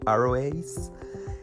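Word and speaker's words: aroace: en español pero bueno Realmente las personas lo pronuncian como arroyos que es el aromantic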